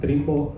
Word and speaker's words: Trimbo: Nuestra solución se llama Trimbo Recihome, ¿vale? Trimbo, ¿cómo se escribe?